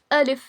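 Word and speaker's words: ا: देखिए, अलिफ का कोई मखरज नहीं होता है। यह मुंह के खाली हिस्से से अदा होता है। सो, अलिफ does not have any मखरज। इट is pronounced from the एंपटनेस of your mouth. इसमें ना जबान यूज़ होती है ना होठ ना ही दांत।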